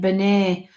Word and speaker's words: Bernet: Sounds like Bernie or Barney. I'm just asking him to come a little bit close. Oh, Bernet. That's his name, Bernet. I'm saying it wrong.